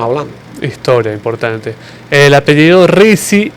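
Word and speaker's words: Rizk: El apellido Risi, y por qué no hay que compararlo con el Riseque.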